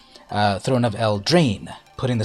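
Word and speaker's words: Eldraine: syllable on the first I put the ACK the emphasis on the first syllable el drain throne of El drain but I've heard people also say throne of El drain putting the syllable of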